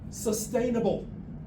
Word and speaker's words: sustainable: Sustainable. Sustainable. There's no B, and well, there is a B, but it's not where you seem to like to say sustainable, but sustainable.